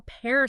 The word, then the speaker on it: pear: sound at all or how pear sounds like wear but not like fear.